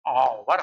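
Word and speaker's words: hour: यच से, लेकिन जब हम यच ओ यू आर को पढ़ते हैं तो हम लोग आवर पढ़ते हैं, आवर। ये देखो आवर लिखा हुआ है, तो आवर तो यहाँ से ये हो गया यच साइलेंट, और से उच्चारण ले लिया, इसलिए आवर हो गया, एन लग गया।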